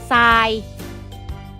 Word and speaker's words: ทราย: ทำ ด้วย กัน เช่น ทราย อ่าน ว่า ทราย ทราบ อ่าน ว่า ทราบ พุทรา